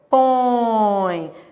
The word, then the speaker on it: põe: Ó, põe, ó, põe. Você tá vendo que é a letra e, mas tem o som de I, ó.